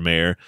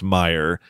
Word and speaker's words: Meyer: she goes thank you Mr Mayor he goes uh pronounce Meyer and then we learn